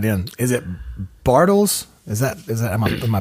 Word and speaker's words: Bartels: Is it Bartels? Is that am I pronouncing that correctly?